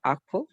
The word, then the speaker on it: awful: Una pregunta, ¿qué significa awful? Awful. Awful. Awful significa terrible, pésimo, malo. ¿Esa W no se pronuncia?